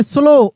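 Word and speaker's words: slow: It said go स्लो देखिए स्लो ओ का उच्चारण आएगा। ये डब्ल्यू साइलेंट रहेगा।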